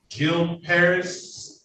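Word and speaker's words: Gil Peris: e r i s it's my last name Jil Paris yeah did I pronounce that correctly yeah good morning to hi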